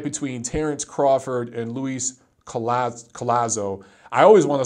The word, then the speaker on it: Collazo: Garden a fight between Terence Crawford and Luis Collazo Collazo I always want to say coy as oh that's just how his name looks to